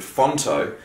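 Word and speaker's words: Phonto: into another app called fonto which is spelled p-h-o-n-t-o and there's a shitload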